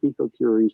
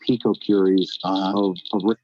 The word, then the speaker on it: picocuries: is that justified in this case a hundred picocuries per liter of air in her kitchen wow